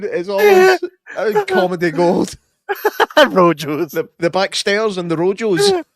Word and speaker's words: Rojos: Rojos. The backstairs and the Rojos. Rojos. Rojos. And you have to roll the R's.